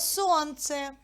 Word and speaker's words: сонце: на звук у слово сонце на скільки складів ділиться слово сонце на два склади А на який звук падає наголос на звук о вірно Прочитайте складову таблицю